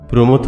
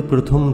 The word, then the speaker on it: প্রমথ: কথায় ছিল গেঁ টান অনেকগুলো শব্দের করতে ভুল উচ্চারণ প্রমথ চৌধুরীকে তুমি বলতে প্রথম চৌধুরী জনৈক উচ্চারণ করতে গিয়ে সর্বদায় জৈনিক বলে